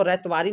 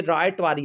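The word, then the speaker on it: Ryotwari: ये रैयतवारी लिखा है तो इसको रैयतवारी नहीं समझेंगे स्टूडेंट ये रायटवारी है आर वाई ओ टी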